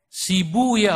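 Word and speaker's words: سيبويه: Sibuya huna, asluhu sibawai. Dalam satu lugat dibacanya sibuya. Untuk menyesuaikan wazan. Sebab kalau pakai sibawai huna enggak ketemu wazannya. Maka saya pakai satu lugat yang membaca sibawai dengan sibuya.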